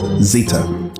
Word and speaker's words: zeta: The Semitics called this same symbol Zin which the Greeks adopted and modified slightly giving it the name Zeta to rhyme with beta eta and theta.